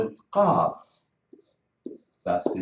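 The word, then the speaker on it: قاف: We call it Qaf. That's the name of the letter, Qaf. But I want to pronounce it I use the same tool or the same letters.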